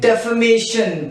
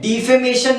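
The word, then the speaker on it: defamation: उसका नाम लिख लें, नाम है डेफेमेशन। क्या नाम है? डिफेमेशन नहीं बच्चे, प्रोनाउंसिएशन अच्छी करो, डिफेमेशन नहीं, डेफेमेशन।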